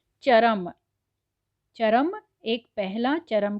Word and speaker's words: चर्म: का हो गया अंतिम, लेकिन यहाँ पर उच्चारण कैसे हो रहा है, चर्म, यानी च और म के बीच में ये जो र आया है उसका उच्चारण पूरी तरह से नहीं बल्कि धीरे से आ गया है, तो इसे चर्म कहा गया है।